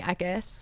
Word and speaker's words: Eckis: it's just at eckes is pronounced like a wet kiss that's how i have